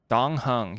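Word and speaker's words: Dan Heng: Dong Hung. Yep, that's how they pronounce it.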